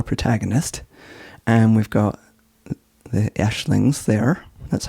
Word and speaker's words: Aisling: It's pronounced Aisling, but it's A-I-S-L-I-N-G, and I know it as a girl's name, right?